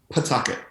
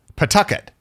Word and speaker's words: Pawtucket: How do you go from a young biracial boy in Pawtucket, is that right? It's really hard to pronounce it. The W is silent. Oh. It's Pawtucket. Pawtucket.